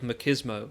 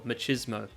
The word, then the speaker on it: machismo: And he says these things because of his tremendous feelings of machismo, or machismo. Trust me, both pronunciations are fine.